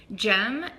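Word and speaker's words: Cem: We're gonna go and visit Jem. It's spelled C-E-M.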